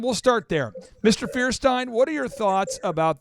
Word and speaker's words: Feuerstein: Stein Frankenstein but uh it's feierstein feierstein okay so feierstein we'll start there Mr feierstein what are your thoughts